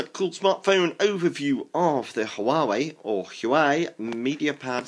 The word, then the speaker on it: Huawei: um we've got um the Huawei logo here or huai however you want to pronounce it there you go